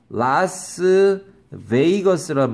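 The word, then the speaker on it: Las Vegas: 라스베가스로 for 라스 베이거스. 얘가 V인데 발음은 A라고 발음해요. 라스베이거스라고 해요.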